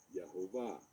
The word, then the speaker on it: Yahvah: Another form of this name is found in Genesis 3:14, where it is written with these vowels, which provide the pronunciation Yahvah.